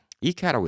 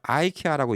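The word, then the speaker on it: IKEA: 이케아가 맞는 거예요, 원래. 왜? 만든 회사가 이케아라고 하니까. 게다가 뭐 다른 나라에서 다 이케아라고 하니까 이케아가 맞는 건데 한국 사람들이 이제 원어 발음을 해주죠. 예, 이케아라고 적고 이케아라고 읽습니다. 그러면 이제 교민들이 굳이 갖고 이걸 아이케아라고 얘기를 해요. 예, 이케아 틀린 발음이야, 아이케아. 예, 근데 교민분들도 이 우물안 개구리가 많아요. 전 세계를 다녀봐야 아는 거예요. 아이케아가 사실 틀린 발음이에요.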